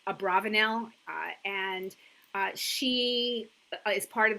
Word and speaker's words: Abravanel: So Abravanel sometimes is pronounced Abravanel and sometimes Abarbanel. When you look at the way the Hebrew letters are written, depending on where you put the vowels, it most likely was Abravanel, and she is part